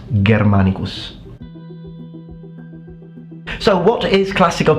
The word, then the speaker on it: Germanicus: Same situation with the G. In ecclesi pronunciation, when G is followed by I and E, it will be pronounced as G. So, Germanicus. Whereas in classical pronunciation, it's always pronounced like a G. So it becomes germanmanicus.